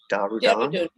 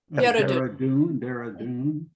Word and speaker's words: Dehradun: my experimental farm in, how do you say, Darudan? Dehradun.